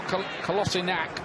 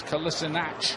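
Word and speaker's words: Kolašinac: There's been a bit of a debate about how we say his name. He told Arsenal Kolasinac, but apparently in Germany he was always known as Kolasinac. Yeah. I think he was trying to sort of give an English version of it.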